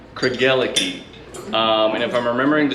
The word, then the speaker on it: Craigellachie: And so the way to, so it's pronounced Craigellachie. And if I'm remembering the story right, to remember it, Craig and L found a key. That's really as simple as it gets. Craigellachie, a key.